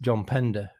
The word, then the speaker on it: Pender: going to go with John Pender because well apart from the fact that his name rhymes with Defender which is reason enough